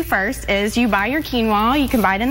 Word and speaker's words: quinoa: So a lot of people have not heard of this grain called quinoa. Quinoa. Spelled with a Q.